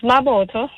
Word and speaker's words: Mabotho: Now I'm a Mosoto man and I was saying Maboto Africa. Am I pronouncing it correctly? Yes, it's Maboto.